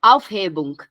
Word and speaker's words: Aufhebung: Pronuncia a palavra. É Aufhebung.